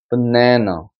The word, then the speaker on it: banana: 자, 약했다가 banana, banana가 되는 거죠? banana. 그러니까 이건 바나나라고 읽지 않고 banana라고 해서 굴곡이 생기는 겁니다.